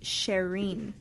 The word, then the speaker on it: Cherine: Well, it's actually pronounced Cherine. But Cherine, so Cherine.